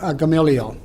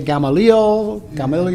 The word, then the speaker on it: Gamaliel: Studied at the knee of Gamaliel. Some of you will say Gamaliel, you can pronounce it either way.